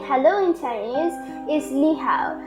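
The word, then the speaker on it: 你好: So the first and most basic way of saying hello in Chinese is ni hao. Ni hao can be used when greeting your friends or siblings, for example, and it's pronounced as ni hao.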